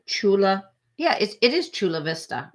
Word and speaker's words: Chula Vista: Yeah, it is Chula Vista, right? It's kind of said phonetically, which is strange, California.